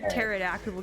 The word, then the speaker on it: pterodactyl: why can't you hear a pterodactyle going to the bathroom because the PE is silent that's what they're called